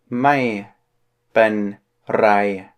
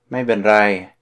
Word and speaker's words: ไม่เป็นไร: ไม่เป็นไร. You gotta roll your R there. ไม่เป็นไร.